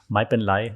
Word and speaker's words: mai pen rai: mai pen rai actually, but they don't really pronounce the R in Thailand. So that everything with an R becomes like kind of an L when they hurry, when they don't pronounce it correctly. So mai pen lai is like, don't worry, don't sweat it.